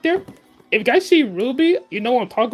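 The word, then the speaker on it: RWBY: And next up is Ruby. Yes, it's spelled R WB Y.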